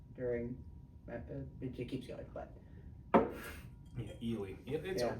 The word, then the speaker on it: Ely: it keeps going, but Ely. It's a cute little town. Yeah. Me and CJ went on and kept calling it Ellie because it made me mad because it's pronounced.